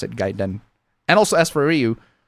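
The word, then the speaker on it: Gaiden: Ryu and gayen gayen I'd say it gaen cuz that's that's how a Japanese would pronounce it gaen cuz I'm pretty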